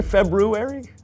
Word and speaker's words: February: make a good Rue actually the extra R comes from the original Roman Calendar when it was called februarius but most people don't pronounce the first are because it produces a cluster of consonants that isn't commonly used in Modern English well some of us